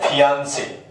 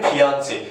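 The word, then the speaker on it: fiancé: मंगेतर को अगर मेल है तो फियांसे है, अगर वो फीमेल है तो फियांसी।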